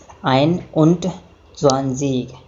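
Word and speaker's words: einundzwanzig: जैसे 21 बोलना है तो पहले आइन, उसके बाद और उसके बाद 20 बोलेंगे, यानी कि 21 को प्रोनाउंसिएट करेंगे आइन उंट ज़्वांज़ीग।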